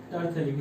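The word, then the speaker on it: terephthalic: टरथैलिक। इसमें ये जो एफ है ना वो साइलेंट रहता है, टरथैलिक अम्ल।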